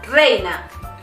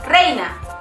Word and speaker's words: reina: Abeja reina. Abeja reina. You need to roll that R. If you want to say the queen bee, it would be la abeja reina.